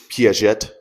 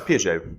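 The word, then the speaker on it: Piaget: It's P it's Pette. No, it's PJ. PJ cuz he's French cuz they don't pronounce a T.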